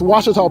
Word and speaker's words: Ouachita: It's Ouachita Baptist University. Get it right. It's Ouachita, people. It's Ouachita. Ouachita.